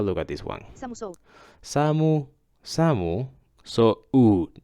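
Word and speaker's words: 寒そう: Samu, samu, so it's not samu so okay?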